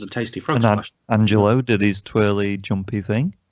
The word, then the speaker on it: Angel: My boys, the Street Profits versus Angel.